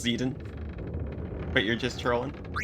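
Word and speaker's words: Zidane: just want the game to look normal it's pronounced zeden but you're just trolling it's it's me zeden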